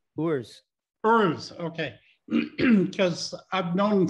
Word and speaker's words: Urs: So how do you pronounce his first name? Urs.